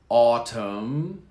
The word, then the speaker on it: autumn: jump harmed harmed now we have silent letters here come autumn no n autumn autumn autumn is the